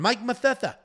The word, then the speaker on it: Mike Mathetha: Blood Diamond, Mike Mathetha, not a lisp, that's just how you say it.